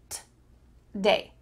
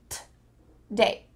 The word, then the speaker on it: today: Instead, you're going to cut out that O sound and just say t-day, t-day.